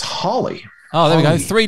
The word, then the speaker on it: Halley: Edmund Halley.